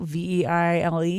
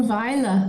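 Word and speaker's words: Vejle: Veile, Veile. Oh, Veile.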